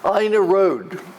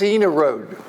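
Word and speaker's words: Ina Road: established a homestead on AA Road and she wrote a series of letterss to the newspaper saying please pronounce my road correctly it's Ena Road it's not AA road that never took um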